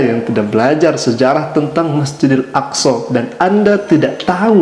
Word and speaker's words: Masjidil Aqsa: dia tidak tahu dan bagaimana pelafalan yang betul Masjidil Aqsa dia sampaikan tadi Masjidil